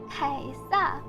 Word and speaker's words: Caesar: For reference, the Chinese pronunciation is closer to the proper pronunciation for Caesar, Kaisa, the Kaisa for Caesar, than 95% of people do.